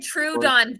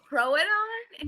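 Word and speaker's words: Troodon: it well no the the fact that i up the pronunciation of the name troadon he said true don through the whole entire book one and then one of our beta listeners went um throw it on and he was like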